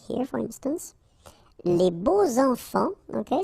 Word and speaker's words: beaux enfants: Les beaux enfants, okay, so you make the liaison between beau, so adjective, and enfant. And here it's quite interesting because even if you've got this X, well, phonetically it will be like Z, so like if it would be an S, okay?